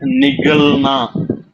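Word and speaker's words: निगलना: ஆனா விழுங்குறதுக்கு நிகழ்னா நிக்கல் ஓ நிகழ். ஓ நிக்கல்னான்றது கிளம்புறது, நிகழ்னான்றது விழுங்குறது.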